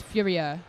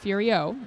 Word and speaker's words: Furia: from France and so he is furia not Furio like us lazy Americans tend to call well no I was